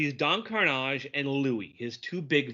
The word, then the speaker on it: Karnage: It is I, that panic-provoking pirate, Don Karnage." Oh, you rolled the R. It's fantastic. Roll your R.